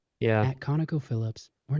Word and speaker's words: ConocoPhillips: At ConocoPhillips, I think the syllables are there, but some of them are rushed and just really rushed, so we're not hearing them. Yeah, you're not hearing the second O.